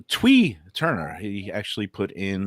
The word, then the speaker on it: Thui: winner pronounces the name Twee Turner. He actually put in that the pronunciation is Twee, spelled Thui.